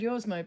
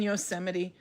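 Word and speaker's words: Yosemite: I've never heard it pronounced Yosmite before. So yuseite is probably the pronounce it. Now we have to look it up. What does Google say? How do you pronounce? I don't want to say yo my ah They're saying yuseite.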